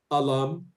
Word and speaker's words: alumni: Say it like I, just add I to the end. The sound I, like I, just add the word I to the end. So you say alumni.